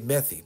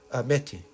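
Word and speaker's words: methi: new Greek or meti I see how it spelled it's you might say methy but I've heard it pronounced from people uh from India meti right so I tried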